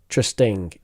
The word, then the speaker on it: interesting: comfortable comfortable comfortable comfortable comfortable and finally in interesting in trusting interesting in in interesting so it's